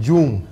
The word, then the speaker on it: Dioum: ¿Tu nombre es ‘John’? No, no es ‘John’. Es Dioum.